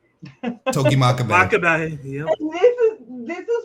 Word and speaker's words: Togi Makabe: Toga make a baby. Togi Makabe.